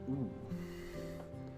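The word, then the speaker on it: う: You pronounce this one as oo.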